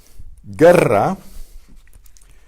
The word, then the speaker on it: guerra: Guerra is a hard G because the U is silent, and the U is used to harden the G before the E.